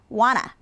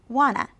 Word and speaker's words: wanna: Okay, try want to when it's reduced. Pronounce for me, wanna. One more time, wanna.